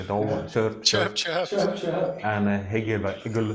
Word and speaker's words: Hegel: like no, chirp, and Hegel say like some friends pronounce it like think about a frozen eagle, like an eagle flying in north of Sweden, and it's frozen, and you can compare it with Apostle John, perhaps.